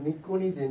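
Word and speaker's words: pnictogen: antimony বিসমাস যেটাকে বলব নিকোনিজেন যেখানে এনটা সাইলেন্ট থাকবে সাইকোলজি যেমন পিটা সাইলেন্ট থাকে এখানে নিকজেন পিটা সাইলেন্ট থাকে সরি পিটা সাইলেন্ট থাকবে আর এখানে সিক্স এভি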